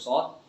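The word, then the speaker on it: ص: dan ayat setelah ini huruf shodroto ini ini jangan pakai huruf sin makhrojnya bukan di sini ya huruf shod ini bukan makhrojnya urusin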